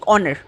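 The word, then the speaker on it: honour: কিন্তু এইচ অনুচ্চারিত অর্থাৎ মিউট অবস্থায় থাকে এবং উচ্চারণটি ভাওয়েলের মত হয় তার আগে এন বসে। Just like অনার।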